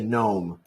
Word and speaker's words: gnome: say gnome we say gnome we do not say uh design we say design and also the word sign so GN always the g is silent that's it oh also